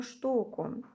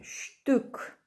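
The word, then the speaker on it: Stück: ціни вказані за одну штуку Зверніть увагу що с у нас на початку слова якщо після неї знаходиться буква Т вона читається як шин і також є в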